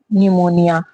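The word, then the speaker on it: pneumonia: विकार नेक्स्ट है स्नी निमोनिया आपने सुना होगा एक तरह का बुखार होता है। इसमें भी क्या है? पी साइलेंट है।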